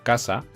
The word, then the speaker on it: casa: Por ejemplo, en la palabra casa está formada por K, sa, dos sílabas. La sílaba tónica de la palabra casa sería K, sa.